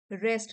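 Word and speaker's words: wrest: पीछा किया and attempted to रेस्ट रेस्ट W silent है द मेडल अवे फ्रॉम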